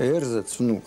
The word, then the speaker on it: эрзац-внук: Да, эрзац-внук. Она на первом слоге делала ударение.